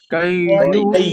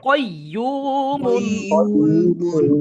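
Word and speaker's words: قَيُّومٌ: দুই পেশ মুন, কয়্যুমুন, কাইয়ুমুন, কেউ কেউ কাইয়ুম বলতেছেন, শব্দটা তো কফ, তাহলে কাফ কেন উচ্চারণ হবে? কফ, কয়্যুমুন, কাইয়ুমুন, হা ইয়া জবর,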